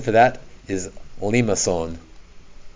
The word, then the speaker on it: limaçon: But today, some classic ones: circles, roses, cardioids, and the pronunciation for that is limaçon. Not limacon, limaçon. It's a French word.